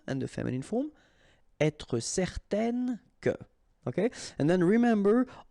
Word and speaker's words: certaine: Okay, so it's nasal in your nose, un. Okay, if you add this at the end, then it will change the thing, and then you will pronounce it n. Okay, so the masculine form, certain, the feminine form, certaine. All right, so let's see them one more time.